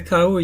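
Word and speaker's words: Kauaʻi: of the okina but when you get to Kauai you say cow you would not say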